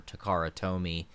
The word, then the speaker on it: Takara Tomy: me because i think i probably said to cara for the longest time or takara tomy and then he was like oh wait it's it's takara yeah yeah i was the same way i said takara and like bandai for a